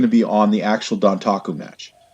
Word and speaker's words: Dontaku: First of all, the road to Dontaku has been started. That's how you say it.